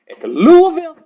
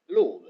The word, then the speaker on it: Louisville: I tell people up here it's Louisville.